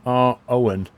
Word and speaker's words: Eogan: And name is pronounced R. Owen.